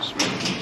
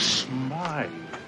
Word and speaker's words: Smythe: If I knew that, I would have shot at Mr. Smith. Smythe.